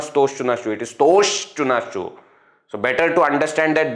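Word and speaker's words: स्तोः श्चुना श्चुः: Actually here no, the pronunciation, correct pronunciation is stoshtunashchuhu. 2 times sha is required, but sometimes while listening you may think that visarga is not there. Therefore to emphasize I am changing the pronunciation and saying stoho shtunashchuhu. Okay? Actually it is stoshtunashchuhu. Visarga also will be pronounced as sha.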